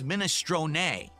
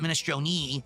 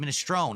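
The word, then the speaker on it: minestrone: It's minestron. That is absolutely correct. Someone said that injunciation. Minestron, not ministron. It's minestron. But in American or English, you pronounce it ministrone. It's a silent e just like provolone.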